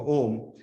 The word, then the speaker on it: Om: This is why people chant Om, because Om is actually 3 syllables.